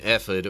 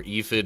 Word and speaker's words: ephod: Hebrew says a linen ephid or ephid. I've heard it pronounced ephod before, but yeah, that was